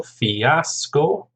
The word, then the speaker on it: fiasco: Fiasco, 3 syllables, stress on the second syllable, fiasco.